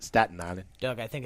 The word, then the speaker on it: Staten Island: I was born in Staten Island, New York, and actually it's pronounced Staten Island.